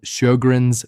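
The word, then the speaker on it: Sjögren's: The fifth cause is a condition called Shoggrren's syndrome and most seniors have never heard of it. Shoggrren's syndrome pronounced Shoggrrens is an autoimmune condition.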